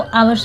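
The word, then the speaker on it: hours: बाद 3 आवर्स later, 3 आवर्स इसको नहीं पढ़ते, इसको आवर्स पढ़ते हैं। आवर्स में एस साइलेंट है। ठीक है, इसको एस साइलेंट रहता है, इसके पहले ए लगता है, एन ए नहीं लगता।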